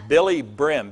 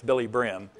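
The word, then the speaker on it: Billye Brim: It's Billy Brim, B-I-L-L-Y-E, B-R-I-M is how you spell it. It's not Billy Graham, it's Billy Brim.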